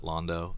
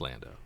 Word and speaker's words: Lando: them have been really cool and good don't pronounce it Londo it's Lando it's Lando definitely Lando anybody read the ti